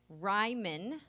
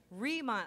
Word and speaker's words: Rhema: now in first place Ryman reman I said it wrong twice Rhema outed him with seven